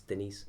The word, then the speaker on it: Denis: His first name isn't Dennis, it's Denis. Do you think it was Dennis? Yeah, well, that's how it's spelled. Is it D-E-N-N-I-S? I think it's D-E-N-I-S, but it's like Denis.